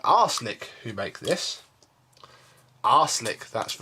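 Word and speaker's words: Arçelik: But, you know, marketing sells vacuums, and Beko, or actually there's a company called Arslick who make this. Arslick, that's right. No, not spelled like that.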